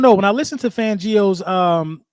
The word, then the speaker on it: Fangio: listen to fangio's um let me say his name right everybody keeps saying I'm saying his name fangio you know what I mean everybody want me to say it like I'm like like I'm Italian fangio when I listen to